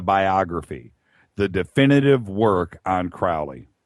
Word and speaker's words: Crowley: the definitive work on Crowley it's actually Crowley I'm sure Tobias is